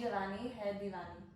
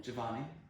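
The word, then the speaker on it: Yeh Jawaani Hai Deewani: Jawani Hai Diwani. Let's say again. Ye Ye Jawani Giovanni Giovanni Hai Hey Diwani. Divani.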